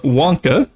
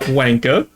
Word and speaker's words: Wonka: And yet, that is pronounced Wonka, not Wanka, but it's the most obvious they've ever kept at one point.